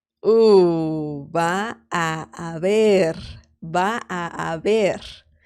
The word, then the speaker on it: va a haber: I mean, I'm pronouncing it quite slow, but regular speed would be va a haber. Va a haber. So it's a very long a sound. Va a haber. Okay. It sounds like one word, but it's actually three.